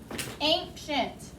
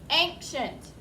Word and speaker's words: ancient: But it is a tough word because we don't think of that C as making the sh sound. Kind of makes its own sound, k and sh.